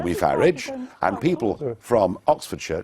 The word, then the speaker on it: Farage: how to pronounce it I say farage farage yeah as I as I would say garage very well but thank